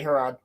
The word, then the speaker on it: Harad: Southrons and men from Harad. How do I say that, Roland? Harad. You said it correctly, Harad. Okay. Because they're called the Haradrim, so they're Harad.